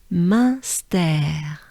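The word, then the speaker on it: Munster: And here it's part of stare. We could think of the words to stare, or a stare, a flight of stare, or, stare, right? Stare. And pronounce it the French way, with a French accent. Stare. That's what we're looking for. Stare. And together, they sound like this. Münster.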